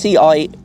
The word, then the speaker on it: Ciampi: Ciampi, I'm going to guess. It's Ciampi. Ciampi? Ciampi. Ciampi.